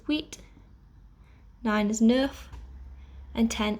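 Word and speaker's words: huit: cease seven is set eight is wheat nine is nuff and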